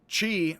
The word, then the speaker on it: qi: Chi, like energy, used to be spelled CH''I. They got rid of the apostrophe. Unfortunately, they also got rid of the CH, and it's QI as chi.